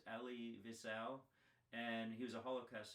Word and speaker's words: Elie Wiesel: the book Night uh I believe it's pronounced Ellie Vel and he was a